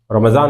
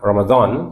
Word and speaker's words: রমজান: এরকমই ছিল আপনারা যারা রমাজান মাসে কোরআন মাজিদ পড়তে চান রমাজান আরবি উচ্চারণ রমজান বাংলায় বলতে অসুবিধা নেই আজকে উচ্চারণের শুদ্ধতার ক্লাস